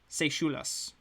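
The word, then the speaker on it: Sashelas: One of the clerics of Deep Sashulas, actually, I just saw the pronunciation just now. Sashulas.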